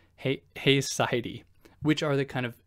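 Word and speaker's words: haecceity: what they call and I might pronounce this incorrectly heisy h h a e c CI t y I believe Hy which are the kind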